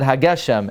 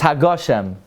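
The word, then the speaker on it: הגשם: Because it also says Masher Achmar Hageshem, and Nusach Achar, it says Hagoshem. It's Hagoshem. You say Hagoshem. That's the right way to say it.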